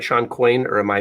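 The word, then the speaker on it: Shawn Coyne: is years ago but I think Sean right Shan quain or am I mispronouncing that's right so you having a conversation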